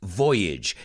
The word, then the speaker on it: voyage: in the process voyage it's voyage que rima con bridge it's maiden voyage then